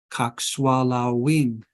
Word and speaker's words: kakshwalawin: Kakshwalawin. Kakshwalawin. I'm sorry. It should be kakshwalawin. Kakshwalawin. The accent comes on the penultimate syllable, typically in this language. The penultimate syllable is the second to the last syllable.